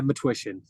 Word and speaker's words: Matwishyn: name is matsh is that how how to pronounce it yeah matsh matsh got it okay what what uh ancestry